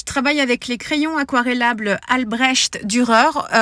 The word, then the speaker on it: Albrecht Dürer: Je travaille avec les crayons aquarellables Albrecht Dürer. On m'a fait remarquer que la prononciation, c'était bien le son che et pas le son er.